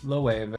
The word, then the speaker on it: Loewe: This is from Loewe.